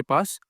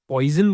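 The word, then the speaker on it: Poisson: बायनोक्स type है हमारे पास पोसों distribution okay अब इसमें spelling PO आई एस एस ओ एन है सो कई लोग पॉइजन बोल देते हैं लेकिन यह एक्चुअली एक फ्रेंच नाम है फ्रेंच इन्वेंटर का नाम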